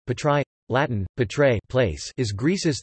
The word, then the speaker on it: Πάτραι: Patra, Classical Greek and Kathorevisa, Patrai, place, Greek pronunciation, Patrai, Latin, Patrai, place, is Greece's third largest city